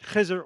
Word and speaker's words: Khizr: And the reason I make the distinction is not only to point out that it's important to pronounce it Khizr or Khidr if you like Arabic, but that Khizr is